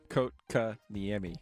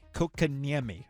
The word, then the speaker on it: Kotkaniemi: to put in an offer sheet for Jesperi Kotkaniemi. I believe that's how you pronounce his last name. I'm going to get it right eventually. You want to give it a shot? Kotkaniemi. Kotkaniemi.